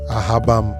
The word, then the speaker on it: Asaba: Then I want to make this claim that Asaba is from the exclamation Ahabam.